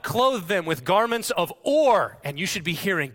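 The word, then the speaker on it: עור: The Hebrew word for skins is or. It sounds like or, okay?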